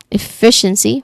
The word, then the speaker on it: efficiency: Pronunciation wise, the second syllable is stressed. The fish one efficiency, right?